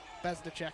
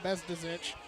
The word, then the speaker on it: Bezicek: Yeah, they've not been doing great with Bezicek, but to be fair, that's a really hard name to pronounce. And I will call you out. You used to call him Bezdizic.